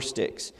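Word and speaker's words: stichs: For instance, Psalm 54, 1-2 has 2 lines with 4 sticks. Hebrew poetry was divided into lines, and each line broken into 2 or more parts, which are called sticks. It's S-T-I-C-H. It's pronounced S-T-I-C-K-S.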